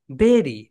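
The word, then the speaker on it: bury: আদ আরিবা বলো বেরি, বেরি মানে কবর, বেরি। বেরি। বেরি মানে কবর। এটাকে আমরা সবাই বলি বাড়ি, কিন্তু রাইট প্রোনাউন্সিয়েশন হবে বেরি।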